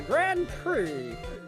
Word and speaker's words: Grand Prix: God will win the Grand Prix even though it's spelled Grand Prix but I'm not gonna say prick but I'm not a